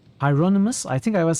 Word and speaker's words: Hieronymus: You pronounce it more like Hyronamus. Hyronamus. What was I saying initially? So many pronunciations was mentioned. Now, I don't remember what I was saying. Hieronymus?